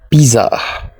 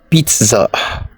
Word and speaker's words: pizza: correct pronunciation is legal legal how do you pronounce this do you say Piza it's wrong to say Piza it is pronounced Pizza Pizza is the correct pronunciation how do you